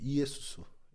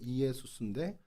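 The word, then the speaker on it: Ἰησοῦς: 하면 어떻게 되죠 예 이에수스 이에수스 정확히 끊어 읽으면 이에수스 예예 예수라는 이름과 여호수아는이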